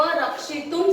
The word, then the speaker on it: रक्षितुं: अस्मिन् संकटे त्वं एव रक्षितुं समर्थ। रक्षितुं, यहाँ पे हेतुवाद आपको तुम लिखा हुआ है, मगर यहाँ पे रक्षितुं तो के ऊपर डॉट है, बरोबर? तो ये डॉट भी उच्चारण क्या होगा? म होगा।